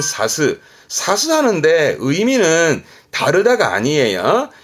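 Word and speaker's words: 差す: 뜻으로 읽게 되면 발음은 사스.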